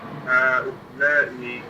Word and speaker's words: هؤلاء: But I would say pronounce this alif a bit longer. هؤلاء كبار.